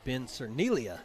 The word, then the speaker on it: Cernelia: explosive play here and apologies to ben cernellia for miss pronouncing his name for the last two years but ben cernelia is how that is pronounced and he will punt